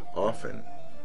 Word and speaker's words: often: Your first option, say often with a T or often without a T. It's your choice. Most people consider either pronunciation perfectly acceptable.